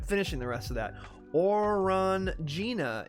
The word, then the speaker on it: Orangina: the rest of that or run Gina is the French pronunciation don't get me that it's orangeina stop or until there you